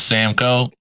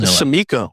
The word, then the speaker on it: Samco: Like I said, my actual name is Samco. I just tell people Sam because it's easier. They don't know how to pronounce Samco for whatever reason. Samiko. Samiko, Sanoco, Costco. I've heard everything in between.